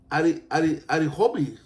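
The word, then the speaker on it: Ἀριθμοί: El título Números es griego. Se pronuncia Arihomi.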